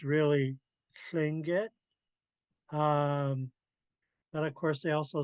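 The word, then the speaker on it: Tlingit: So when you see this, it's really Klinget. But of course they also spell it with a T.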